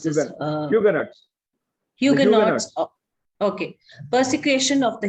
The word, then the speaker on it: Huguenots: of the persecution of the, how do you pronounce this? Huguenots.